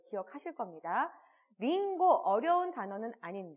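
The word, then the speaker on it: りんご: 분들 과일을 함께 체크를 했었던것 또 기억하실 겁니다 링고 어려운 단어는 아닌 데 그쳐 사고 알아냈고 요자 발음이 조금 조심을 해야 하는 부분이 있죠 링고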